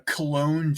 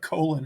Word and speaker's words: Cologne: be like it's not it's not colon It's cologne uh number six Hooker